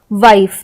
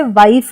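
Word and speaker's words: wife: जैसे वाइफ तो यहां पे ई जो है आई के बाद आया है तो हमने इसे वाइफ कहा। हमने इसे वाइफे या वाइफ ई हमने ऐसा हम इसे नहीं पढ़ते हैं।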